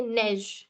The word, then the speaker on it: neige: Neige. Right? Neige. That's right. So it's the ए sound. Okay, neige, neige.